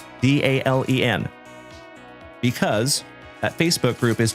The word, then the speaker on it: Dalen: Eco, my name is Dalen. D A L E N. Like Dale plus N.